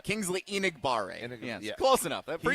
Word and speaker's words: Enagbare: Egdegbare, if I say his name right. Kingsley Enagbare.